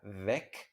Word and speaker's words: weg: Esta palabra, cuando se escribe con minúscula, se pronuncia weg y significa algo como se fue o ya no está, desaparecido, ausente, ¿vale?